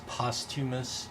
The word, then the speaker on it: posthumous: A posthumous, I think the correct pronunciation is posthumous, but I like saying posthumous because it makes, why not?